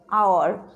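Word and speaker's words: hour: Okay, and again you see here first letter is H, but pronunciation or sound is here what? Actually here sound is our.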